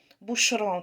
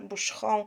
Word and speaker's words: Boucheron: mnie po prostu fascynuje bushroom taka wymowa Pamiętajcie ołów we francuskim wymawiamy jak u h ch jak sz Bush home No i takie tam ą na końcu Wybaczcie nie mam pewnie